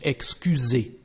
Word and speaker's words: excusez: In this case, the letter S, the pronunciation is like a Z, Z in French, excusez.